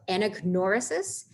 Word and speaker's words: anagnorisis: the syllable is bolded, that you should be pronouncing it louder. So anagnorisis, catharsis, fatal, fate, hamartia or hamartia, hubris, peripetia or peripeteia, and pathos or pathos.